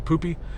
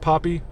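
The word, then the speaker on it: Poppi: the video with um the poop soda the poopy it's pronounced Poppy I don't care it looks like poopy um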